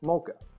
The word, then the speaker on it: MoCA: do it it's called mocha it's pronounced just like the chocolate coffee drink mocha what is mocha you